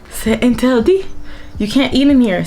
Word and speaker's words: interdit: My favorite word, actually, it's pronounced interdit. Interdit.